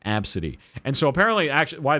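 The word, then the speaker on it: Abcde: no, her name is Absidy." And I spelt it that way because I'm her mom and I chose it that way. It's Absidy. A-B-C-D-E. It's pronounced Absidy.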